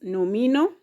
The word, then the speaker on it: nomino: Now, the first word here is nomino. The first word here is nomino. How many syllables are in this word? Nomino. Nomino. Nomino. If you can pronounce the syllables here, we have no, mi, no.